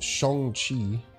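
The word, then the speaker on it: Shang-Chi: close to saying it what's actually pronounced Shong chi I do say sha is that is the American name but it is pronounced even the original version of Shong shers guess we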